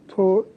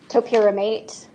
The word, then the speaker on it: topiramate: Was she prescribed torpiramate? Yes. How do you say that? Topiramate.